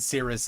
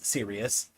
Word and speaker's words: Sirius: is serious and and a couple times I I said Cirrus as well it is serious Cirrus are Clouts oh